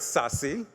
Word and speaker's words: SASE: Gardner published a paper titled sassy that's how you pronounce this SASE secure access services